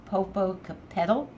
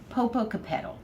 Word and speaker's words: Popocatépetl: She told me how to say it, Popocatépetl. She was here, she'd probably correct me. Popocatépetl.